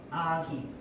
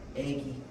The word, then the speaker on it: 아기: 표준 발음이 아닙니다. 대표적으로 뭐가 있냐면 아기, 애기, 어미, 애미, 그 다음에 고기, 괴기.